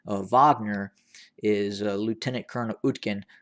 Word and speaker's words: Wagner: a group known as wagner again some people mispronounce it as waggoner w-a-g-n-e-r the group is is is uh is the